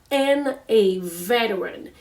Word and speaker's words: veteran: It's VETERNA, veteran. And then as you guys have notes, we don't need to pronounce the T in veteran.